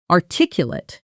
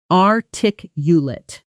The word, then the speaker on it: articulate: pronounced are tick late with a longer clearer final syllable. Let's practice both adjective first articulate articulate. Now the verb articulate art ticulate.